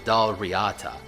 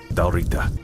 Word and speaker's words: Dal Riata: But the worst offender has to be the dal riata. How the hell do you pronounce this? Because even among people who are part of this culture, it's the Dal Riata or Darita, depending on who you ask.